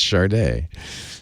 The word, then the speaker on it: SADE: But it's pronounced Sharday.